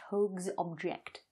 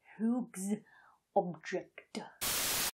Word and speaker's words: Hoag's Object: You've got to be able to pronounce Hoag's object. Hoag's object.